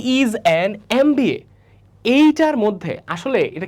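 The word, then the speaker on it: MBA: তিনটা এক্সাম্পলের মধ্যে প্রথমটা ধর পড়লাম হি ইজ এ এমবিএ। আচ্ছা প্রথমত এটা আসলে ভুল আছে। ঠিক আছে? কেন? কারণ এইটা উচ্চারণ হচ্ছে এমবি এ।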